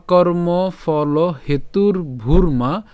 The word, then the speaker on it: ভূর্মা: এরপর একই রকমভাবে ভ দীহুকার আবার রেফ আছে, তাহলে উচ্চারণটা কেমন হবে? ভূর মা। তাহলে ভ দীহুকার এবং হচ্ছে র হসন্ত পর্যন্ত উচ্চারণ করলাম ভূর, এরপর হচ্ছে কি মা।